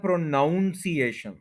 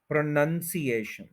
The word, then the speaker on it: pronunciation: कि जो वर्ड है प्रोनंसिएशन उसको अक्सर बोल दिया जाता है प्रोनाउंस एशन प्रो नाउन इस एन यू एन को नाउन बोल दिया जाता है प्रोनाउंस एशन यह गलत है यह है प्रोनंसिएशन प्रनं सशन अब यह कोई फाइव के करीब इसके सिलेबल है और जो फोर्थ है उसके ऊपर इसका स्ट्रेस है प्रनंसीएशन यानी ए पर